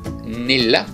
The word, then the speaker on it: Nille: anyway this is from a Norwegian store called Nila that's how we pronounce it uh and let's